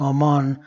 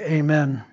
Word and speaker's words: amen: hand the third word it's actually more properly pronounced am man but most people say amen and that means to